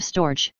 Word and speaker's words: storge: The Greeks called this love storge, two syllables and the G is hard.